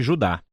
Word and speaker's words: Judá: A carta de Judas, ou mais precisamente Judá, de acordo com a pronúncia do seu nome, tanto em grego como em hebraico.